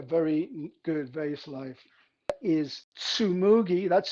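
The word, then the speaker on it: Tsumugi: because has a very good vase life is sumugi that's spelled t-s-u-m-u-g-i sumugi from alexandra farms in colombia next up another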